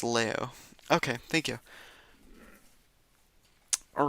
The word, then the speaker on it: Laos: H los is h lo is the common English English pronunciation but in it's leo.